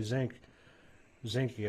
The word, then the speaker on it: Zinke: Secretary Zinke, I believe is how his name is pronounced.